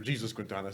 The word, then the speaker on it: Jesus Quintana: John Turturro takes his character Jesus Quintana, or Jesus Quintana. Sorry, that's how they pronounce it.